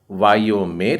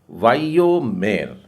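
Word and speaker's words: ויאמר: यदि आपने इसका उच्चारण वायोमेर किया है तो यह गलत है। गौर करिए, योद में बीच में एक बिंदु डला है। आप गौर करिए, स्क्रीन पर ऊपर से एक बिंदु डालता हूं, ये वाला। यह एक बिंदु जो डला है, इसके कारण उस योद में जो य का उच्चारण है वो 2 बार होगा, एक बार आधा और एक बार पूरा। इस तरीके से तो सही उच्चारण होगा वायोमेर, वायोमेर।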